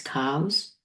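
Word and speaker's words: Cowes: town of cows, but COW, but ES. So I think it's pronounced as cows.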